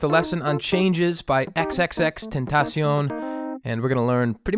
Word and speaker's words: XXXTentacion: question before i break this part down um xxx tentacion i learned that as the correct pronunciation after we were uh lambasted in dion's